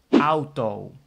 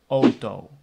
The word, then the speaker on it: auto: that's an interesting one if the ow is at the beginning of the word so the word starts with the ow then you can also pronounce it as o so I will give